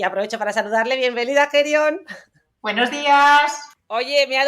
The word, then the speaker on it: Hae Ryung: carrera y ahora brillante y excelente profesional oftalmóloga, Gerion Wong Kim. Gerion, que por cierto se escribe Jae-ryung con Y, con U-N-G, con H